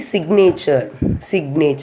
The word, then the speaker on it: signature: See, signature. So here we are pronouncing the letter G, S-I-G-N-A-T-U-R-E.